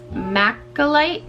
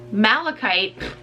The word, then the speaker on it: malachite: pronounce this wrong it maca light matcha light no malachite I can't read necklace